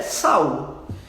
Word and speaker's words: Saulo: paulo também era sal a pronúncia correta de saulo é sal e ele fala né